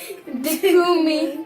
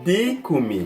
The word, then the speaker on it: dikumi: Dikumi. Dikumi. Dikumi. Dikumi. Dikumi. Just like you take a little bit long on D.